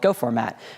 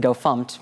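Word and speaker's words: gofmt: for formatting source code called go format or if you're one of those weird people who pronounces it go funked you could call it go func and mostly we used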